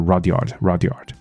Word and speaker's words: Rudyard: 那他的英文名字叫做 Rudyard Kipling 啊，Kipling。这个 Rudyard 听起来其实也很像 Roger，你知道吗？可是我也好听到有人把它念得非常发音很像 Rudyard，可是我找了一下，好像就是 Rudyard，那 R-U-D Rud Y-A-R-D Yard 啊。发音大概不重要了，我们来看下去。那而且他的中文翻译，我刚刚说他的翻译源自于读者文摘1993年9月号的翻译。好，来我们就看下去吧。好，那其实里面有大概只有几个字算是我觉得比较值得看一下下，比较我认为比较少见一点点的，其他的部分就是我们来欣赏一下他吧。第一句说 If you can